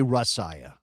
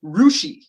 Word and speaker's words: Russia: Some people according to this the Wikipedia page for this village in western Ohio is rushi.